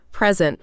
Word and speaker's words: present: Now, if it's a noun, like a gift, where do you put the stress? Present. the first syllable, right? Prescent. But if it's a verb, like to give a presentation. Oh, then it's present, the second syllable.